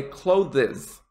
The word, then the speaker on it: clothes: is this word a lot of students say clothes don't worry about it being two syllables say it the exact same way as